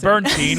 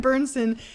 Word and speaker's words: Bernsen: But Well, yes, they like all star Corbin Bernstein, which is why you don't know him. Corbin Bernsen, he's not like Bernstein? some Bernstein? We even say his name. Bernsen.